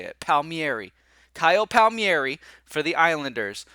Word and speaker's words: Palmieri: Kyle Palmieri pal yeah I'm just gonna say Palmieri and I'm gonna just stick with that Palmieri and here's the thing at the end of the day if this dude pronounces his name differently then so be it but I'm pronouncing his name correctly okay pal pal mieri that's how you pronounce that name regardless if that's how he does it that's how you say it so if he